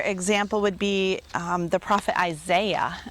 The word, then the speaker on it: Isaiah: It's very simple to pronounce this in English, syllable by syllable, Isaiah. But in Hebrew, that would be Yeshayahu, or if you say it like my instructor, Yeshayahu. I'm not even very good at that. It doesn't sound anything like Isaiah.